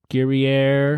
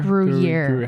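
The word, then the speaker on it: Gruyère: Gruyere? Gruyere. How do you say that word? Gruyere.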